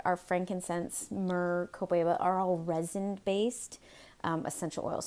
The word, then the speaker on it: Copaiba: lot of people even have a hard time pronouncing. Can you see that? It's been Copaeeeba, Copaeeeba.